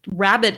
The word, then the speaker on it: Rhabit: just for my listeners rabbit is spelled are H a bi T so can you